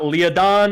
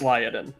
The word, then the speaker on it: Lyadin: the second one uh it's not leodon it's lyadin but anyway um it